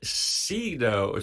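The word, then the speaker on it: Cedo: a kid from Yugoslavia named Sido c-e-d-o pronounced c-h-a-y-d-o-h-chado he never understood why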